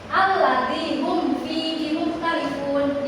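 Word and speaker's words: الذين هم فيه مختلفون: Alladzi hum fihi mukhtalifun. Dibacanya jelas. Jadi si mim sukunnya itu terdengar jelas gitu, tidak didengungkan ataupun disamarkan. Seperti biasa ibu sekali, kalian sekali. Alladzi hum fihi mukhtalifun.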